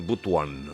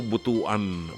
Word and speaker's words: Butuan: pronunciation magmumukang tanga ka tama ba yun butan o hindi hindi daw Butuan Butuan City Rodney ababao Good evening